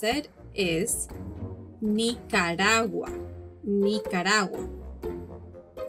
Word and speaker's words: Nicaragua: nicaragua in english nicaragua is referred to as nicaragua but the correct way to pronounce it is nicaragua nicaragua costa rica costa rica again in